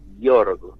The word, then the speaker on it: Jorg: que era el doctor Jorg. Se escribe como Jorge, pero sin la E final. Jorg sería, ¿no?